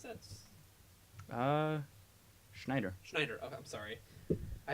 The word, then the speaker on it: Schneider: Sean, how do you pronounce that? Schneider.